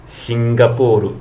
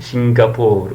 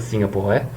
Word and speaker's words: Singapore: Hong Kong I know need to explain anymore singapur be careful with the pro the the pronunciation singapur not Singapore and then uh this is some fictitious uh